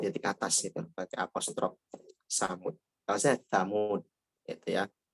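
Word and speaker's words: ثمود: Transliterasinya TSA, tapi jangan dibaca sa atau dibaca samud.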